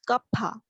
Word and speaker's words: Kapha: Pronunciation is Kapha.